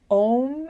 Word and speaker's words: Om: reflecting on, I mean, the way it's explained is Aum. Not that you would say it that way, but like the root syllable or the root letter is A, the vowel marker is O, and then the little designation, anyway, it's a little bit technical, but the little semicircle and the dot above the syllable mean that it's Om instead of O.